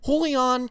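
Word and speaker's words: Julián: Castro hey everybody I'm holy on castro pronounce the J like an H holy on Castro when he was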